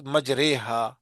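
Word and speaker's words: مَجْرٖیهَا: ایک جگہ ہے، مجریہا، اس کا تلفظ مجریہا ہے، جیسے قطرے، قطرے کی یا ہے، مجریہا نہیں ہے، سمجھ گئے نا؟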